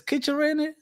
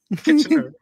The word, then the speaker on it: Kitchener: How do you pronounce this place? Kitchener? Kitchener.